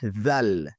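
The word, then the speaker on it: ذال: Ici, il faut faire attention lorsqu'on prononce. On dit la lettre Zal. Zal. On fait sortir la langue. Zal, on met sur les dents.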